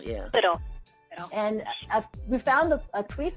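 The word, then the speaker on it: Lyttle: It's Little, yeah. Little.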